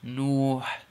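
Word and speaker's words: نوح: And also the Prophet's name, the Prophet Noah alayhi salam, his name is spelled in Arabic with noon dhamma waw sukoon and ha. Nuh.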